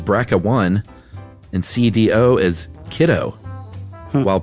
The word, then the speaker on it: BRCA1: on a regular basis how would you know to pronounce the gene brca1 as bracca one and CDO is kiddo